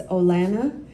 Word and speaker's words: Olana: So maybe I'll take the opportunity to do it's Olana, and then it's Hankivsky. You do it one syllable at a time, and it gets easier, I promise.